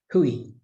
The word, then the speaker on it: hui: a bit quick but actually the proper way to say it is but we say it quickly so it's easy to miss that it's got those two vowels in it hui so i hope that's